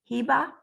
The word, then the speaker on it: Heba: historicals i love historicals and then i i don't know if i have your name pronounced correctly is it is do you know john is it uh heba yeah hiba but she says she's